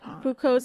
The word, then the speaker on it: Foucault: But if you if you're reading it, it's spelled like fukult, but he's French, so that's He's French.